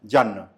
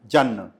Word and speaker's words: जन्न: जन्न। जी। अच्छा। तो ज आधा न, फिर पूरा न, जन। जन्न।